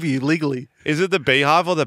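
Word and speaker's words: BeyHive: the Beehive save you legally is it the Beehive or the bive it's B cuz it's pronounced b e y yeah probably like Beyonce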